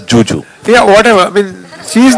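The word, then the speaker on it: Zhu Zhu: So it's written as Zuzu, but she pronounces it as Juju.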